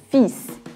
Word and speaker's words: fils: Fils. São dois filhos também. Nesse caso aí, a palavra fils, ela é uma exceção, porque em geral a letra S no final das palavras em francês não é pronunciada, mas nesse caso aí ela precisa ser.